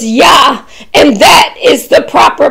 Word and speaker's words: Jah: spelling says j-a-h but the pronunciation in Hebrew the J is a y so it's yeah and that is the proper pronunciation praise yeah praise ya hallelujah hallelujah now we